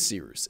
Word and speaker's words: Cyrus: discretion my name is sirus it's spelled like cyrus pronounced like sea rooster just take out the ter thank you very much